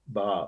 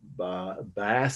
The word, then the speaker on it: bas: It's really two words hyphenated, bas or bas, some people call it mispronounced, but it's a French word, B-A-S.